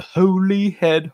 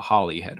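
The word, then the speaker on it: Holyhead: Jones captain of the Holy head harpies and then in this book he says captain of the Holly head harpies which is the correct pronunciation mhm they David would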